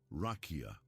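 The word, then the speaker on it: רקיע: That word is rakia, pronounced rakia. And here is the detail that completely changes the way this topic is usually treated.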